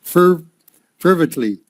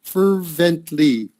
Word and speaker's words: fervently: Pronounce, setting, crucial, critical, heaven, appeared, strengthened, got up, anguish, agony, fervently, fervent, I think the emphasis should be here, fervently. That's like having enthusiasm, fervently.